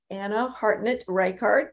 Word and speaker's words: Ana Hartnett Reichardt: And today I have with me Ana Hartnett Reichardt. Did I pronounce all those names right?